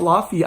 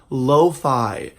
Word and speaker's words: lo-fi: locking music oh no it's not la fille I learned to the other day it's called lo-fi and so this is